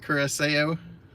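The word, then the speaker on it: Curaçao: You pronounce it with an S sound, like Curacao.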